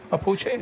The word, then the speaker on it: Mapuche: Mapuche.